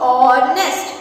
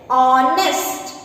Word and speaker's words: honest: So, honest. Here H is silent. Honest. O is a vowel sound. So, we should use here an honest.